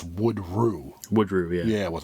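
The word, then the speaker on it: Woodrue: It's like a different pronunci pronunciation. It's not like the last name Woodrew. It's Wood Rue.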